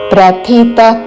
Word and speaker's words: ప్రథితః: లోకే వేదేచ ప్రథితః పురుషోత్తమః ప్ర పక్కన మహాప్రాణ అక్షరము థ దాని తర్వాత అల్పప్రాణ అక్షరము త రెండు మహాప్రాణ అక్షరములతో పలకకూడదు రెండు అల్ప ప్రాణ అక్షరములతో పలకకూడదు ప్రతి థి త పురు ఇక్కడ ఈ పదంలో విసర్గ ఉన్నది కాబట్టి దాని పక్కన ప తో పదం మొదలైనది శ్వాస వదులుతూ చివరన ప లాగా ఉచ్చారణ ప్రథితః పురుషోత్తమః పురుషోత్తమః ప్రథితః